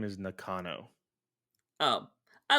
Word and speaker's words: Nakano: Nakano. There you go. Nakano. Well, see, I don't respect him. That's why I'm calling him Namco.